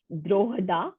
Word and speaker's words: Drogheda: So it's pronounced as Drogheda.